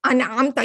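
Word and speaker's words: أنعمت: This is a Hamzatul Qat. And here you are pronouncing it. Even if it's in the middle, you are pronouncing it, right? An'amta, you're always going to pronounce this Hamzatul Qat.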